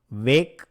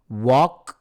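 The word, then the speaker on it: walk: believe me மெதுவா நட வாக் slowly இங்க வாக் இருக்கு இல்லைங்களா அதுல வர எல் அதை வந்து உச்சரிக்க கூடாது வாக் ஸ்லோலி தேவையில்லை நாட் நீட்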